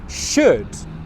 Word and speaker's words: should: Should, another really useful word. I should film more pronunciation videos. Exactly the same. The L sound you don't pronounce.